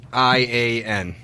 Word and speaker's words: Ian: I-A-N.